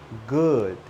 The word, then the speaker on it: good: Open your mouth. Relax your lips. When you say the word good, your lips need to be relaxed. Good. Not good. See, if I say good, my lips are not relaxed. They are strong. Good. I need to say good.